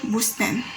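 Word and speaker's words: بستان: So we have that word here, bustan. So how we pronounce it like that?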